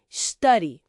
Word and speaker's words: study: Study. O U é curto, estudar.